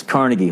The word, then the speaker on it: Carnegie: in New York it's Carnegie Hall and when you're in Pittsburgh it's carnegi all right when you're in